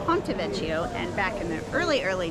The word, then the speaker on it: Ponte Vecchio: I believe I mispronounced the bridge. It's the Ponte Vecchio, and back in the